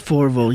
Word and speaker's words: Fourvel: yeah, it's Fourvel. Yeah. Fourville. Yes, Is that how you pronounce he's it?